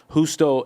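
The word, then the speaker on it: Justo: Hustto El Gonzalez. He's one of the top theologians. He's in his Spell it for those that don't know. Hustto is with a H. J U S T O Gonzalez.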